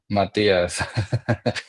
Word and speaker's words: Mathias: And I'll make sure before we keep going, it's Matias. The H is silent, so I want to make sure.